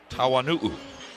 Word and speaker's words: Tawanu'u: Let me say it right. Tawanu'u.